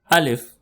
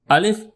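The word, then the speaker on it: الف: The first alphabets of Udu language starts with alphabet alif. Al if it sounds like al without t sound al if repeat after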